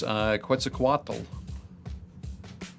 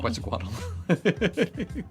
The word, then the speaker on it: Quetzalcoatl: So this is the Wendigo of Myth, and this is Quetzalcoatl, also from Central American mythos.